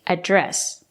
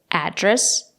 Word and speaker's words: address: If it's a verb, you have to stress the second syllable, address.